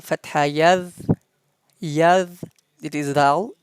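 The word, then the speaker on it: ذال: yadh, yadh, it is dhal pronounced top of our tongue and uh, edges of our upper front teeth.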